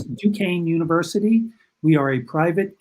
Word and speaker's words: Duquesne: that spelling is a little funny but it's pronounced duquesne so it's duquesne university we are a private catholic university we